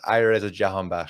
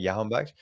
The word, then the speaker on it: Alireza Jahanbakhsh: So like, it's pronounced Alireza Jahanbakhsh, so it's actually not like Jahanbakhsh.